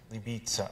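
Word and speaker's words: Libice: castle in libya bohemia l-i-b-i-c-e i don't really know how to pronounce it libiza i think that's today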